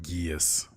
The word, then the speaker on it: Geass: Also, it is pronounced Geass. Geass.